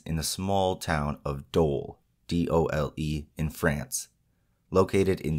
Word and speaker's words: Dole: Our story takes place during the 1570s in the small town of Dole, D-O-L-E, in France, located in the Franche-Comté region, and I did look up the pronunciation on that.